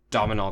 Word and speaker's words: Domhnall: about a lot more Domino Gleason so you say his name domhnall gleeson yeah cuz he could be